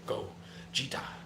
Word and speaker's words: Gogeta: Then Matt said, Jet, you said it wrong. How do you feel like I should have said it? And then Matt said, the Broly movie chant. The Broly movie chant does the go, Jita, go, Jita.